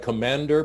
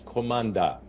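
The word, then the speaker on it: команда: ukrainian commander commander yes it's a little bit like commander but it's commanda because in ukrainian we pronounce all the vowels as they are commander omanda okay this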